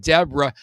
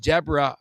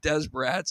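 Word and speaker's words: Desbarats: It's actually called Deborah, which is a weird thing. Okay, that's another weird naming convention. It says Desarats, but it actually is pronounced Deborah from what I understand.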